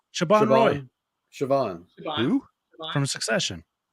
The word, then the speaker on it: Siobhan: Siobhan. Siobhan Roy Siobhan. Who? from Succession. Oh, yeah. I can't. She's British too. I think It's or not Scottish. or Siobhan.